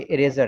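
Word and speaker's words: eraser: इरेजर, इसको बाज़ लोग रेजर पढ़ते हैं, ठीक है, ई को साइलेंट कर देते हैं, लेकिन ऐसा नहीं है। ई साइलेंट कर देंगे तो ये ई में आएगा नहीं, ये तो आर में चला जाएगा, ठीक है। ये इरेजर है, इसको पूरा पढ़ा जाएगा, इरेजर, ठीक है।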